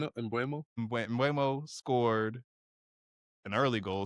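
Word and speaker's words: Mbeumo: Bueno. I'm gonna say his name Brian wrong again. Mbuemo.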